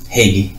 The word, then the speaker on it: Heagy: So without further ado, I have with me Brother Said Abdul Latif, who formerly was known as Father Hilarion Heagy. Did I pronounce that right? Heagy.